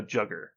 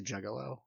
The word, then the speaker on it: juggalo: A jugger. That's not how you say it. No, he's a juggalo.